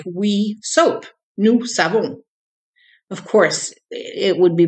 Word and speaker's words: nous avons: To some people it sounds like we soap, nous savons. Of course, it would be pronounced a little bit differently, nous savons. But anyway, the S from the nous running into a vowel sounds like a Z.